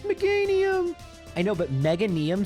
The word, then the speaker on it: Meganium: Meanium, it's pronounced Meganium.